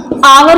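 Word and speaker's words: hour: यहाँ पे कॉन्सोनेंट है, बट एच एक तरह से साइलेंट भी होता है, और इसका प्रोनाउंसिएशन जो हम लोग करते हैं वो आ से होता है ना, आवर बोलते हैं इसको।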